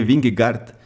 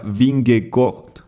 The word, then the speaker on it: Vingegaard: la pronunciación correcta y nos dijeron que si bien se lee binglegart la pronunciación sería bingo como que la a suena como una O y tiene una Rd al final entonces bingo estoy le